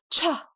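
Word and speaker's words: ཆ: That's going to be cha, cha.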